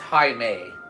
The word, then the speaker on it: Jaime: Jaime is pronounced Jaime.